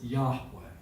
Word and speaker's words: Yahweh: should be in there you would pronounce it Yahweh y-a-h-w-e-h and you've probably